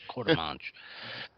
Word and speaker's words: Quartermanch: I think Quartermanch? Okay. Pronounce one E, don't pronounce the other. Got it. Quartermanch.